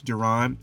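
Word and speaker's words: Darron: It's Don. It's spelled D A R R O N. But I didn't want people to confuse that with Darren because everybody confuses that with Darren.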